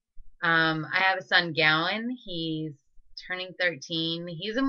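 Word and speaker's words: Gawain: great because people constantly mispronounce his name it's Gowan but it's spelled g a w a i n so it's always Gavin or gain or gwin they just always get it wrong and so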